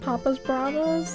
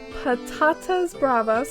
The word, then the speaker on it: patatas bravas: morning here with the laundry literal translation of papa's bravas angry potatoes oh i just googled it it says patatas bravas also called um anyway mispronunciations it means spicy